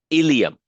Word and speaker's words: ilium: right here that's the ilum it sounds exactly like the intestine ilium but it's spelled differently okay this is I